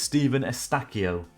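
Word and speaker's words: Eustáquio: I learned that this name is Stephen Estacchio. I know how to pronounce it now.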